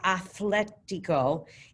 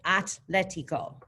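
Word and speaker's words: atlético: in it in spanish it's not athletico it's atletico and we'll put that h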